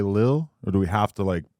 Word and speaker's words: Lil: So you just took the second L off, but when you pronounce it, It's Lil. you intention just Lil. Like Lil. Like it's Lil. You feel me? The L just ain't there.